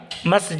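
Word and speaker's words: مسجد: और कई लोग मस्जिद कहती है या मस्जिद, मस्जिद कहता है। इसका इसका उच्चारण है मस्जिद, ज़िद। बाकी सभी उच्चारण या उच्चारण गलत।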